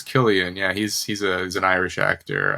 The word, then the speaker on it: Cillian: You say his name is you pronounce it Killian Murphy? I'm pretty sure it's Killian.